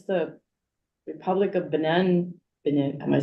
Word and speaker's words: Benin: It's the Republic of Benin, am I saying it wrong? Benin. Benin.